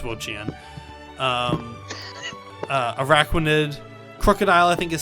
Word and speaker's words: Wo-Chien: Also, it's Wo-Chien.